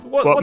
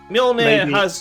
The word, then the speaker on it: Mjolnir: But yeah, what I would say is, like, you know, Mjolnir has a J in it. You know, do people pronounce that? No, they do not.